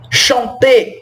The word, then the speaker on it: chanter: O fonema do ER é igual ao fonema do E acento agudo, tá? Chanter, chanter, danser, danser.